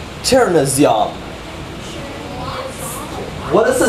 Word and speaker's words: chernozem: So you have chur, no. And then right after that is a zyom. Z-Y-O with a dot. That makes the A sound. And then an M. Cherna zyom.